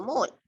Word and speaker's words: mole: Mole, like mole, you pronounce it mole, but the unit is MOL.